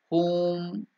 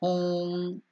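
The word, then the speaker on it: Hoom: used to awaken Kini home or home so h o o m is the correct pronunciation or h u elongated U is elongated that is a pronunciation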